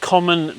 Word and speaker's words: Comyn: Um Newbold Common, the common element is spelt c o m y n. Um my partner pointed out to me over the weekend that that's quite an unusual spelling.